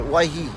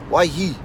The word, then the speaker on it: Waihi: I mean there are the odd people they pronounce it with a wine so today's place name is white he say why he alright why he I have heard people stretched in the why